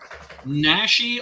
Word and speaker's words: Naschy: Is it Naschy? Naschy, although his real name was Jacinto Molina.